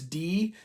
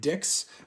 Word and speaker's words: dix: Apparently, the reason why they call the South the Dixie is because uh this in French is D, but we say it like Dicks.